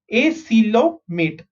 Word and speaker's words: acoelomate: Okay, so the first one we are seeing is acoelomate. Okay, how do you pronounce this? Again, O is silent.